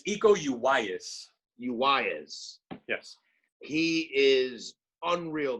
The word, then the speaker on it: Iko Uwais: And this guy Iko Uwais, am I pronouncing it right? It's Iko Uwais.